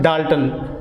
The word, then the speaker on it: Dalton: लिहिलं कसं जातं 1U असं लिहिलं जातं आणि it is pronounced as 1 Dalton, 1 Dalton, and it is given